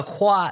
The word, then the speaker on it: Khoa: choi n h n excellent excellent and so hua is how to pronounce your first name yes that's correctly okay